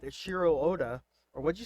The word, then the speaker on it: Eiichiro Oda: the studio that's making it, and they're not Eiichiro Oda, or what'd you say his name is? Eiichiro Oda, you said it correctly. Eiichiro Oda.